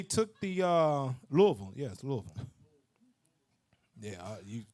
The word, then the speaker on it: Louisville: the uh louisville yes louisville yeah you i don't care how that's spelled it's louisville all right but you see